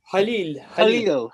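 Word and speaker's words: خليل: I know, please help me, Hakan, with the pronunciation, al-Khalil, which is that the Arabic word? Halil.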